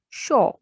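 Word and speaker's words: chaud: AU. AU has sound O. Shaw means hot.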